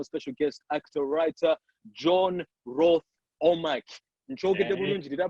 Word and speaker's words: Rwoth-Omack: But yes, I'm talking to my special guest, actor, writer, John Rwoth-Omack. Did I pronounce it properly, boss?